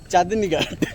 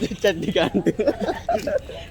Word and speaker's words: Chandni Ghat: It's called Chandni Ghat, not Chaddi Ghat.